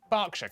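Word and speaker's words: Berkshire: is silent Norwich Beric suuk e r is pronounced R barkshire Clarken Harford but before you get too reassured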